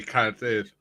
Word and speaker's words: Cardiff: If you're saying it in English, yeah, but we actually say Cardiff.